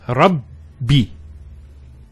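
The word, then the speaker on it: ربّ: this it would be the ra followed by two baz there's the the first bar takes a sukun and the second text say kasra so it's rabb so you notice actually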